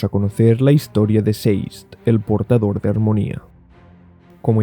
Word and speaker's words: Sazed: Sé que a muchos os suena raro que pronuncie Seist de esta forma. Yo lo pronuncio tal y como lo leí por primera vez, como aturdido en inglés, que es dazed, pero con S en lugar de D.